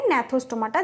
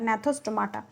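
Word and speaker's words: Gnathostomata: এটার উচ্চারণ হবে ন্যাথোস্টোমাটা, যেটা এখানে উজ্জ্ব থাকছে এটা হচ্ছে ন্যাথোস্টোমাটা, এর উচ্চারণটা ন্যাথোস্টোমাটা।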